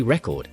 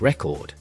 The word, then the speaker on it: record: If you say record, it means a noun, like a music record. If you say record, it means a verb, like to record a video. The stress tells listeners what you mean.